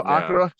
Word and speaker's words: Akira: Because us Americans, we put stress on the first syllable and we draw it out, and the second syllable we really draw out. Whereas Japanese put a slight stress on the first, and then they kind of fold in the second and third. Yeah. Somewhere it's almost not there.